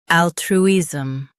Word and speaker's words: altruism: Al, tr, is, altruism. Stress all and keep true smooth. Al, tr, is, altruism.